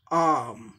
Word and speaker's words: arm: में प्रोनाउंस करना हो, एक अमेरिकन प्रोनाउंस करेगा तो क्या है, कैसे करेगा? आर्म, आर्म, आर का भी उच्चारण होता है उसमें, लेकिन ये आर उच्चारण जो होता है सप्रेस्ड तरीका से, आर्म नहीं होता, आर्म, आर्म, आर्म, आर्म, आर्म, आर को थोड़ा सप्रेस करके बोला जाता है।